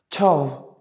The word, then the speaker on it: çav: It is like, it's closer to the, not closer, but exactly the same, the ç sound in like chair in English. Çav, which means eye.